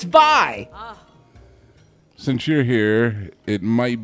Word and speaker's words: vai: got a penis by saying it wrong dude sorry bye they're like bye it's vi since you're here it